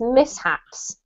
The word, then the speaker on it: mishaps: is actually miss haps there's no shift sound in this word it's mishaps okay miss apps correct